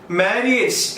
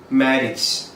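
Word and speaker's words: marriage: മാരിയേജ് എന്നൊരു വാക്കുണ്ട്, മാരിയേജ്. നമ്മൾ എല്ലാവരും ഉച്ചരിക്കുന്നത് ഇങ്ങനെയാണ്, പക്ഷെ അതിന്റെ കറക്റ്റ് ഉച്ചാരണം മാരേജ്.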